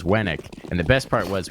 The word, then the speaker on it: Wenik: Winnick versus Wennick.